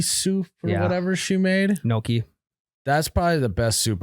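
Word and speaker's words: gnocchi: or whatever she made Noki that's probably the best soup I've ever had an makes it is it Noki Noki yeah it's spelled g noi yeah I would never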